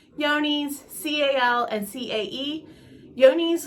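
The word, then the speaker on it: Johne's: yoni's C-A-L and c-a-e yoni's looks like it is spelled John's but it's actually yoni's and it is also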